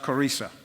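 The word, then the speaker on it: Qurayza: Sometimes referred to as the tribe of Karaja, other times it's pronounced Karisa.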